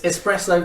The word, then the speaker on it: espresso: It's espresso, there's S's in it, it doesn't go anywhere any quicker than any other coffee.